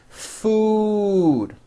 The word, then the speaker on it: food: you the word food has a double o and it's pronounced as ooh food okay but the word